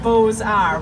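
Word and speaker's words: Beaux-Arts: a u x a r TS but it's pronounced Bose R we're going to pronounce it together I'll say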